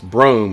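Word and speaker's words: Brougham: dorado bro brome brome how do i say that it's brome like a long o right anyway so i'm back at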